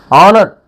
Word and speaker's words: honor: Here our h is silent, that is why we use here yan our. Honest, honest, an honest. Honor, an honor. Honorable, an honorable.